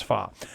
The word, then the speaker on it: Pho: probably fa delicious fa delicious and it is pronounced fa mhm as as my uh uh my wife keeps pronouncing it Fox so honey you heard it not just from